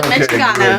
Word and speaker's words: Mitchaganos: Yeah, is that how you say it? Yep, the Mitchaganos. Mitchaganos, yes.